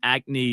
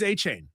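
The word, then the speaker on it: Achane: Miami Dolphins Stonewall teams calling to inquire about Devon Acne. Is that how you pronounce it? He's a He's Achain.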